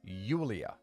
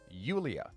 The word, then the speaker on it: Julia: Julia in the Ukraine Julia is pronounced Yulia Yulia like a y so what I suggested